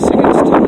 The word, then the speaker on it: Sigginstone: Now, I'm not pronouncing it probably right, it's probably Sigginstone. The T-O-N is actually a Viking name for town, and the Welsh is Tre or Dre in modern script. So this is Sigginstone or Sigginstone.